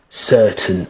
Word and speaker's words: certain: to master British English you have to um not pronounce the letters that come after the vowel letter.